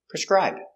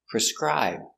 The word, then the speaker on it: prescribe: needs to prescribe antibiotics pronunciation prescribe P PR very close sound PR s PR PR PR preser i prescri prescri b prescribe prescribe the stress is on the second syllable prescribe prescribe prescribe in